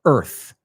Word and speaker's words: Earth: Y vamos a pronunciar esa palabra también, por favor, Earth. Imagínate la palabra sin la A. ¿Te ayuda un poco?